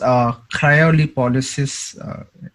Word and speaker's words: cryolipolysis: What is cryolipolysis? If I did I pronounce it right?